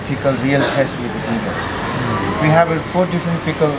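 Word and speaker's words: dhindo: Dindo. Yeah, dindo. Dindo. The right pronunciation is dindo.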